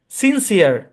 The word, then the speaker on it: sincere: প্রথম অংশের উচ্চারণ কি বলেন? সিন। পরের অংশের উচ্চারণ কি? সিয়ার। কি উচ্চারণ? সিয়ার। ভাই, সিয়ার উচ্চারণ পরের অংশের উচ্চারণ। সি এর পরে ই থাকলে সি এর উচ্চারণ দন্ত স্বরের মতো, আপনারা জানেন। তাহলে এই সম্পূর্ণ শব্দের উচ্চারণ কি? সিনসিয়ার।